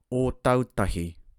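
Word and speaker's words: Ōtautahi: Alright, pronunciation first, then we get to the meaning. First up, we have Fakatsu, Fakatsu. O tautahi, o tautahi.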